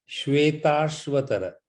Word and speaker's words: श्वेताश्वतर: उसको ऐसे बोलते हैं श्वेताश्वतर, बोलो श्वेताश्वतर। श्वेताश्वतर। उसको जरा एक दो बारी पढ़ने से आपके जो है जवान पे चलेगा। इट्स a little difficult to pronounce. श्वेत अश्वतर, श्वेताश्वतर। और दूसरा तो आसान नाम है उपनिषद।